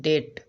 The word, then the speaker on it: debt: ओ का मतलब ऋणी होना, डीपर का मतलब गहरा, डेट ऑफ ग्रेटिट्यूड आभार का कर्ज, DEBT, this is called डेट। यहाँ पर देखिए बी साइलेंट है, डेट का मतलब कर्ज।